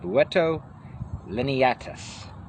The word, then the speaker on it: Buteo lineatus: Today we're reading about the red-shouldered hawk, the Buteo Lineatus. That's the Latin pronunciation, Buteo Lineatus.